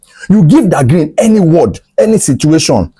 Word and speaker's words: Dagrin: But in hip hop, THE is pronounced as Da, you know, Da Brat and stuff like that. So he added Da to that green. So that was how Dagrin came about, that name.